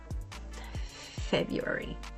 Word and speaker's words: February: This word often trips people up because it looks like it should be pronounced February with 4 distinct syllables. But in everyday speech, most native speakers simplify it to February.